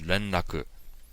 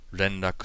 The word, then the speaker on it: 連絡: And the word for contact in Japanese is renraku. Renraku. And to spell that in Roman letters, it would be R-E-N-R-A-K-U.